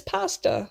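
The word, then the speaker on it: POSDA: semi-realistic anime-like or cartoonish his name is pasta like the noodles but it actually is spelled differently it's p-o-s-d-a it stands for pineapple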